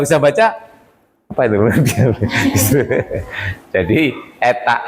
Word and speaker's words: eta: Jadi eta X sama dengan ini, tapi sering diartikan sebagai natural ya. Makanya kayak N ya tuh, natural. Tapi bacanya bukan N, tapi eta ya.